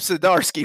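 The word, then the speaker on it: Zdarsky: anybody I want to be that jerk y'all pronounce whatever the hell y'all want to but it is chip sidarsky fresh like I got that one right yeah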